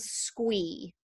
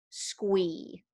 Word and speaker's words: Sqwee: And one is a platform called Squee, and that is spelled SQWEE, Squee.